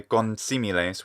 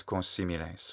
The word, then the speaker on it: consimiles: So he doesn't say consimiles with a hard N, he says consimiles, consimiles. It sounds completely native, fantastic for us to imitate.